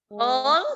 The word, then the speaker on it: whole: Whole, jadi dia W-nya tidak terlalu kelihatan dibaca, jadi langsung HOL.